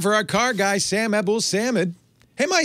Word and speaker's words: Abuelsamid: No, that's the way I generally pronounce it. I guess you could say Abuelsamid. Technically that is the closer to the correct pronunciation or more accurate pronunciation. Yeah. But if you were, you would say that if you were speaking to me in Arabic, but then I wouldn't understand what you're saying anyway.